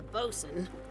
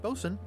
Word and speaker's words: boatswain: a second mate a boson a ship surgeon and a gunner do you think you're qualified for any of those what there wasn't many of the letters in both swain pronounced one what's one what